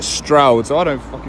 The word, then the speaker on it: Stroud: just started a video i called it strewed but um yeah i think you pronounce it stroud so i don't [